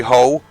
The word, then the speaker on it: Hull: So yeah, Jerry Hole, and it's spelled like the hull of a boat.